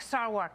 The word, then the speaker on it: Sarwark: is here, joined by comedian and writer extraordinaire Jimmy Fela in the house, and Libertarian National Committee Chairman Nick Sarwark is here.